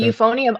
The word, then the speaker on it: euphonium: Um, they they asked in the chat, have anyone heard of how do you pronounce that? Euphon ephonium. The euphonium.